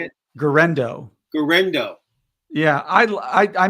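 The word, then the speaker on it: Guerendo: J jardo is that how you say it gendo gendo yeah I I I mentioned him last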